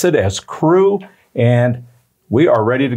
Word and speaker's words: CRU: the acronym is cru i understand that they pronounce it as crew and we are ready to get started our